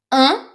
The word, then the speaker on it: un: Un, very nasal and not easy to pronounce, so be careful with this one.